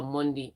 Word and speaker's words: Mendy: And Chelsea tried out their new goalkeeper Monday. I know it's spelled Mendy, but because he's French, it says Monday.